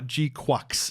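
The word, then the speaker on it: GQuuuuuuX: So the new Gundam Gukes is what I'm going to pronounce it as. Uh Gqu is apparently how it's pronounced.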